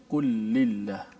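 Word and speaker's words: قل لله: Dia kena kul lillah ke kulillah? Kena baca kul lillah. Kul lillah. Okay. Maksudnya lam tu kena, betul. Lam yang pertama mati, kul, kemudian diidgham atau masuk dalam lam yang kedua itu.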